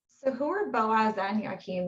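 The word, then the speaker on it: Jachin: Uh, well, no, the the names Boaz and Yakim or as we still call them, jock, but Yakim is you're correct on on the pronunciation.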